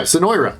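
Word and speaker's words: Zenoira: for joining Zen zenoa zenoa yeah zenoa that's how you say it I say it wrong all the time and I hear it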